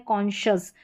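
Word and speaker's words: conscious: SC का उच्चारण कभी कभी श भी होता है, जैसे कि यहाँ पर इन स्पेलिंग्स में मिनिमम स्पेलिंग्स है। देखिए यहाँ पर है कॉन्शियस, उच्चारण दे रखा है, डिफिकल्ट है, इसलिए यहाँ पर जो है SC को श पढ़ रहे। कॉन्शियस है, यहाँ पर लशस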